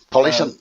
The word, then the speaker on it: Polish: So Polish and how do you say the second one then?